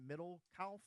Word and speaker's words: Middlekauff: This is John Middlekauff, I believe is how you pronounce his name.